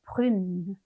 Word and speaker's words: brune: 여성형 뒤에 을을 붙였잖아요. 그러다 보니까 발음이 달라질 수밖에 없겠죠. 읽어볼게요. brune, brune 이렇게 됩니다.